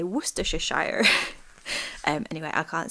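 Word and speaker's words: Worcestershire: Woohisha. Woohisha sauce. I love it when it's like Americans say it and they say worshshire.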